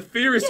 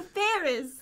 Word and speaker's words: Ferris wheel: I won't even go on the Furious Wheel now. The Furious Wheel? Is that how you say it? The Furious Wheel. The Furious Wheel. The Furious Wheel? The Ferris. Ferris Wheel.